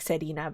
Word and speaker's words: Selena: Is her name Selena or Serena? Well, I guess if you're pronouncing Japanese, it would sound like Serena, but her name is Selena.